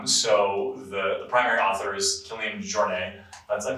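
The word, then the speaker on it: Kilian Jornet: So the primary author is Killian Jornet. That's, I pronounced it right, right?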